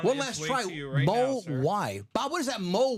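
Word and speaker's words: Mawae: how about that man there it is Kevin Mau and 200 bucks well done that is H one last TR mo why Bob what is that mo why oh oh the pronunciation thank you moai Kevin Mo thank Bob Bob knows what I'm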